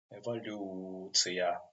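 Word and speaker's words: эволюция: Sometimes this letter O pronounced like A. Why? It happened when the accent not on the syllable where we have this letter O. For example, this word has accent on this syllable, evoluция, and that's why this letter O pronounced like A. Eva, evoluция.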